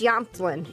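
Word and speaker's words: Jämtland: It's Yamtlin. It's the J is like a Y as well, isn't it? So maybe I think I've been pronouncing your home wrong.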